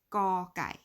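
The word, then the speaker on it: ก ไก่: Gor Gai. The R is silent. So it's not Gor Gai. It is Gor Gai, which is chicken.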